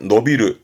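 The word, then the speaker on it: 伸びる: 발음은 노비르. 위에 있던 신축의 신자니까 늘어나는 거지요. 키가 자라난다라든가 노비르.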